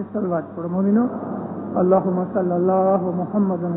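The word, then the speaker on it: محمدا: मोहम्मद रसूलुल्लाह, मोहम्मदिन भी गलत है, मोहम्मदुन भी गलत है।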